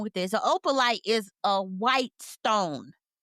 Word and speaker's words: opalite: I'm pulling it up, but did you see what they were what they were talking about with that opulence? No, I'm saying it wrong. Opalite, which is a crystal.